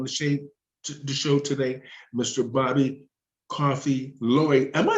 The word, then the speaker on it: Coffe-Loy: thinking if I say coffee, he's going to be like, "That's not my name." Yeah, it's So, coffe-Loy.